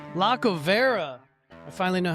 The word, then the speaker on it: Lacovara: With, you're gonna have to pronounce your last name. Lacovara. Lacovara.